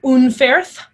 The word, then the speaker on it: Unferth: There's another character named Unferth, and he interacts with Beowulf, and you pronounce his name Un. There's that U sound. It's oo like poo, Unferth. That E is like an A sound.